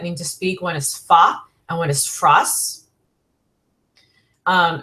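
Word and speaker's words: Fage: that yogurt called fa that's how I'm pronouncing it the Greek way it's F spelled f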